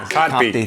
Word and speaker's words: Kotb: Kotb.